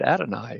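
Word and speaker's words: Adonai Mitchell: it I like okay we GNA pronounce it Adonai as opposed to Donnie and whatever else I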